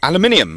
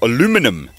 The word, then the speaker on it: aluminium: weld them up because this is aluminium or aluminum as you Americans say um so this leaves